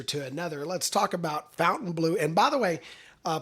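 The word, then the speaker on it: Fontainebleau: vital Vegas breaks it the official pronunciation is Fountain Blue good old American Fountain Blue not Fountain blah or whatever we you know so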